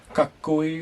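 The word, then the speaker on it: かっこいい: So the words here, for example, we have kakkoi, which means handsome or cool, and it means, yeah, you could see there the tsu. You don't pronounce it as tsu.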